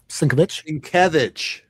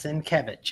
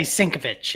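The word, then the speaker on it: Sienkiewicz: Skevich apparently. Did I get it right? Sinc. Yes. Skevich. Emphasis on the second syllable. Lots of people say sinovich.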